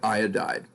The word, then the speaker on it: iodide: BR bromide I - iodide and that's how you say it iya died and then astatine when